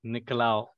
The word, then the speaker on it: Nicolaou: So this is my discussion with my good friend and web developer, George Nicolaou. Did I pronounce the last name properly? Nicolaou.